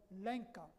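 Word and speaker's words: Lenca: velta was belta casares her people are called lenka that is spelled l-e-n-c-a and they are one of the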